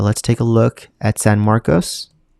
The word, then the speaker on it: San Marcos: take a look at San Marcos I want to say San Marcus but I'm pretty sure it's pronounced San Marcos let me know in